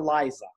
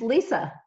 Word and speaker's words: Lisza: She's interested in health and wellness, and her name, now your name is Lisa or Liza? It's Lisa. Just spell it a little strange.